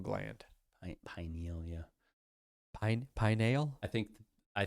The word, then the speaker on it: pineal: Melatonin is produced in the pineal gland. Pinealia. Pine. Pineal. I think I think you most people pronounce it pineal. I like to say pineal because it sounds like pinnacle.